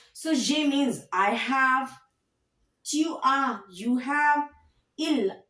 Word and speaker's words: tu as: Tu as. S. Don't pronounce. Ne prononcez pas. Don't pronounce.